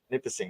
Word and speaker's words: Nipissing: So tell us about what is first off, how do you pronounce the university that it was at? It was Nipissing University. Nipissing, because I was going to say it a different way.